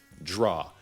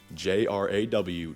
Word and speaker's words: JRaW: JRaW, J-R-A-W, draw with a J.